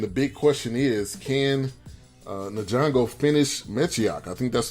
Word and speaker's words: Ngannou: I think that is Ngannou. Okay, totally butchered that one. But Ngannou, his former fight, Ngannou, I'm going to put his name in the